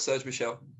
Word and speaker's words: Serge Michel: I know he's boxed Jose Burton and a German fighter called Serge Mikel, or Mikel. Maybe I'm mixing the name wrong. No, you got it right, Serge Michel.